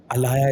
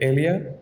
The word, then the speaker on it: Alaya: being an ally, but Alaya is something like that's quite chunky. So we changed the pronunciation a bit to like Elia. It's Yeah, simpler, easier to say.